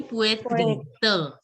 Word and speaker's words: poitrine: Yeah, the T sound should not be there. It should be poitrine.